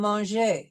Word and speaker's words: manger: We will not be pronouncing the R if it's an ER combination, which is, we see in the infinitive of the regular ER verbs, which we've studied before, parler and manger.